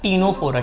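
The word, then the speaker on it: Ctenophora: Coelenterata, फिर आता है टीनोफोरा। क्या आता है? दोनों में बच्चा सी इज साइलेंट, पता नहीं फिर रखा क्यों इन लोग ने, इंग्लिश का थोड़ा तकलीफ है ये सब।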